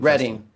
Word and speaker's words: Reading: Reading. Yeah. Well, it says reading. I know. It's pronounced reading though.